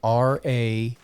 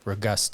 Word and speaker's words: Ragosta: Yeah, the pronunciation almost sounds like Ragosta. So it's like, it almost seems like there'd be a different vowel in there. But yes, it's an O, I swear.